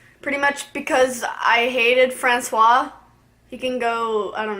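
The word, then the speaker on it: François: Francois I hate him at first I thought his name was France teos I'm like I don't think that's how you pronounce it so I looked it up it's Francois um so glad I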